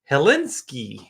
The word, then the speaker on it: Hilinski: We have Hilinski.